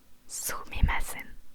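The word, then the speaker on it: すみません: Sumimasen.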